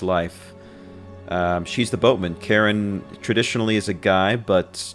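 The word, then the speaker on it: Charon: name was karen right but the name of the boatman for the underworld is also karen but it's spelled c-h-a-r-o-n and um i'm pretty sure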